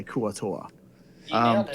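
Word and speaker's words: Kuo-Toa: That's how I'm going to say Kuatoa.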